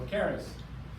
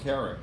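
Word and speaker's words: כרת: Karas or carrot? Or karas. No, carrot. Is that, are you reading an Ashkenazi book? Yeah, karas, yes. So it's spelt with a T. Well- Ashkenazi do the S.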